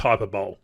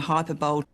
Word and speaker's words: hyperbole: you're using hyperbole and no it's not pronounced hyperbole the hyperbole oh Julia anyway pretty